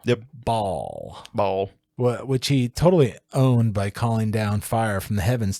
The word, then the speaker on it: pwned: I thought it was spelled pwned, but it's actually pronounced owned because it's just a different. Because it's like a typo.